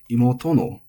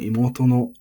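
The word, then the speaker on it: 妹の: So if we say imoto no, we're not saying, at least not in standard Japanese, imoto no. We're saying imoto no because no attaches high.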